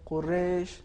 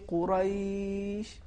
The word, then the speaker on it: قریش: اب اس میں دیکھیے اگر ہم اس طریقے سے تلفظ کرتے ہیں قریش تو یہ عربی تلفظ نہیں ہے، اور جو زبر تھا حرف را پر وہ خراب ہو گیا. تو صحیح تلفظ اس طریقے سے ہے لإیلاف قریش، بالکل آرامی کے ساتھ.